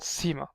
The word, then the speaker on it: Ⲥ: see a certain like I see it's called Seema so and it's like the s part of the C and the pronunciation so it's an S or you can